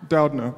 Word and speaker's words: Doudna: is a question for a professor did not pronounce that correctly Doudna pardon me so theoretically speaking is it possible